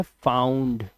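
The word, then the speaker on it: found: ओ यू का उच्चारण आपको आउ करना है। लिखा ओ यू है। आवाज आउ की आ रही है। अब देखो कोई अनपढ़ आदमी क्या ही करेगा। फाउंड या वांड पता नहीं क्या-क्या पढ़ेगा इसको। लेकिन ये वर्ड है फाउंड।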